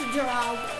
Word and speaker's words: Geraldo: it is geraldo he's he's pronounced geraldo i call him growling the